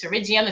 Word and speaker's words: pterygium: the comment box to rigium it's actually spelled with a p terrigium if you've ever heard